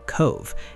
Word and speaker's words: Cobh: Head down to the town of Cove, pronounced Cove, and you're standing in the shadow of the most famous ship in history.